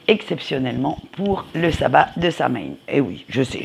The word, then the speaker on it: Samhain: pour le sabbat de sain et oui je sais je le prononce à la française parce que moi excusez-moi